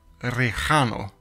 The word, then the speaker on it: Rejano: the practice mute heaven, Rejano, or Rejano, if you attempt the Spanish pronunciation.